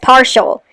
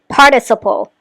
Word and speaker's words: participle: is correct, but drunk she said is past partial. That is not how you pronounce that word. It's participle.